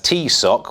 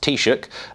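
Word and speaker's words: Taoiseach: foreign secretary liz trust who mispronounced the title of the irish prime minister as t sock when it should have been pronounced taishook michael martin said that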